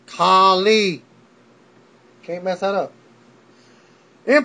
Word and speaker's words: Khali: Correct my name, it's Khali. Can't mess that up. In pronouncing his name on SmackDown, back live, Fandango